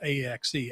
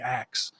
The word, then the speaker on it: Acts: a lady yesterday and she thought it was AXE, Acts. And I said, no, it's Acts.